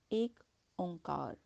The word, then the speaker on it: एक ओंकार: एक ओंकार, इस शब्द का शुद्ध उच्चारण है एक ओंकार।